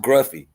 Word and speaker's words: Gruffy: joining we appreciate you oh okay it's pronounced gruffy we thank you sir we appreciate that gruffy we appreciate that all